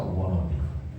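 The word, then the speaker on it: wannabe: 워너비. want to be라고 하는 말을 연음으로 발음해서 워너비.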